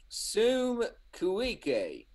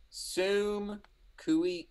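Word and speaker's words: suum cuique: It comes from a Latin phrase called sum cuique. When you say Latin, you mean the ancient language? Yeah, I mean the dead language. And it says what it's a suite? Sum cuique.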